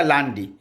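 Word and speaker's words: lundi: चीज यह है कि ये एल यू एन डी आई था लेकिन इसने प्रोनंसिएशन किया लांडी तो फ्रेंच में इंग्लिश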